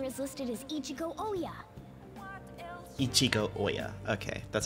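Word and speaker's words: Ichiko Ohya: Ichigo Oya. Okay, that's how you pronounce her name.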